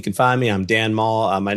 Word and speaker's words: Mall: I'm Dan Maul. My name, as as you said earlier, my name's pretty easy. Two syllables. Dan Maul, like the shopping mall, M A L L.